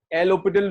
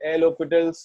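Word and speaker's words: L'Hôpital: इतना सा समझ लो, एल हॉस्पिटल रूल लिख ही देता हूं यहां पर, एल हॉस्पिटल्स rule. एल हॉस्पिटल नहीं बोलना है, HOS है, S is silent, एल हॉस्पिटल, ठीक है।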